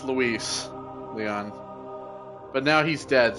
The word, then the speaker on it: Luis: anymore dumb idiot like Lewis is spelled l-e-w -e-s right or or is w-e-l-e-w-i-s like clearly it's Luis oh God my the